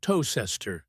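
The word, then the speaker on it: Towcester: that yes it's called toester same pronunciation as toaster by looking at this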